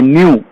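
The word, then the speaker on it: ν: কম্পাঙ্ককে frequency বলা হয়, যাকে নিউ দিয়ে চিহ্নিত করা হয়, এরকম লি এর মতো দেখতে, নিউ। উচ্চারণ হবে কি?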